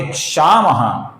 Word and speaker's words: क्षमः: क्षमः का जो विसर्ग है, इसके आगे क्षामः का क्ष आया हुआ है। ये जो क्ष अक्षर है दोस्तों, ये क और श से बनता है। जब इस प्रकार विसर्ग के आगे क, ख या क्ष आता है, तो विसर्ग का हम हल्का सा ख, अपूर्ण ख ऐसा उच्चारण करते हैं। तो यहां पर अपूर्ण ख उच्चारण है।